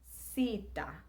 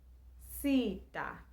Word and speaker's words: Sita: A is still being pronounced the same way. I is pronounced E and will always be pronounced E.